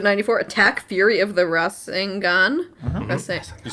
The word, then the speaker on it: Rasengan: Episode 94, Attack Fury of the Rasengan.